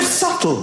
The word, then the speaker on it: subtle: The word subtle, would anybody object if it was spelt S-U-T-L-E? Not a single person would. But there's a B in the middle going, shh, just ignore me. Just ignore me forever. I'm silent.